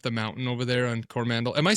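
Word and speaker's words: Coromandel: mountain over there on Cormandal? Am I saying it right? I just saw a movie where they were like they called it Cora Corora Mandel. Cora Mandel. And I was like it's Cormandal.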